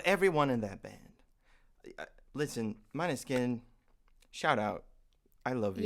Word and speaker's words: Måneskin: You thought it was mane skin. No, I said At least I'm saying it right. I said it's Måneskin.